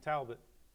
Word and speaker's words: Talbot: us, the Chief of Police for Norristown, I Chief can't Mark pronounce Talbot. his name. How do you say his name again? Talbot.